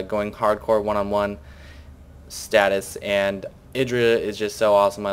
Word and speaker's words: IdrA: It's going to be Idra or Idra. Actually, we have confirmed that is pronounced Idra against Maro the Tan player.